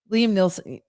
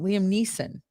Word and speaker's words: Liam Neeson: they go return jewelry liam nelson oh neeson i do say nelson what do i say liam nielsen i do i say it wrong liam neeson liam neeson i do say that wrong i'm gonna say taken